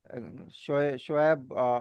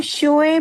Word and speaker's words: शुएब: Correct, हाँ correct pronunciation शुएब है। Same ही है, कुछ लोग शोएब भी बोल देते हैं, तो वो हम्म। डिस्टोर्ट होके शोएब हो जाता है। वैसे शुएब सही प्रोनाउंसिएशन है, हम्म।